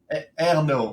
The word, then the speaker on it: Ernault: Ernault, like air, like oxygen, like air and no, like there's no oxygen. Like Ernault is like the kind of French. Yeah, Ernault is the French way of saying that.